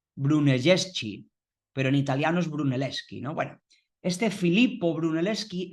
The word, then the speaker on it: Brunelleschi: En este caso fue Bruneleski, ¿no? Ya hablaremos de él porque este este Bruneleski, ven que se escribe brunelleschi, pero en italiano la ch se lee